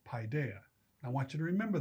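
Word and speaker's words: paidia: p a i d i a and it's pronounced paa I want you to remember that word because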